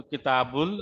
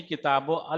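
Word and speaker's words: كتاب الهند: तो किताबुल और हिंद है। यही तो है भाई। यानी कि किताब अल नहीं पढ़ेंगे क्योंकि उसने बोल दिया अलीफ यहां साइलेंट रहेगा।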